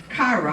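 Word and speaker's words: כרע: The group got its name from the Hebrew word cara, which is pronounced as kara.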